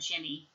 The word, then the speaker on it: Ginny: Aaron and Ginny, you can also pronounce it Guinea, but most people would call that Ginny.